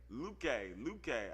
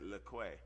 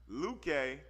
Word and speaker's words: Luque: But how do you pronounce his last name? Luque. I'd have said Leque. Luque, as I suspected, Kevin Holland has a significant reach advantage, like 5.5-inch reach advantage.